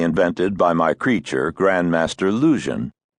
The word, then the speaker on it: Luzhin: by my creature, Grandmaster Lusion. The name rhymes with illusion, if pronounced thickly enough to deepen the U into oo.